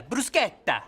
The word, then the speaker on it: bruschetta: Do you mean bruschetta? Yeah, brusqueta. Why are you saying it that way? That's how it's supposed to be pronounced.